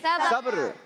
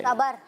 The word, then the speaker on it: सब्र: खरीदने वाला, आम, बोलने, सब्र, कारोबार वाला। दिखाएंगे स्क्रीन पर सवाल क्या है। किसका फल मीठा होता है? सबर। सही प्रोनाउंसिएशन है सब्र, मगर आपका जवाब दुरुस्त मानते हैं।